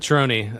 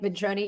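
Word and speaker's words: Ventrone: How do you say is he Italian? Yeah, I think it's Vroni. That's how I heard um uh McVey say it. So, I'm that's what I'm going to go with.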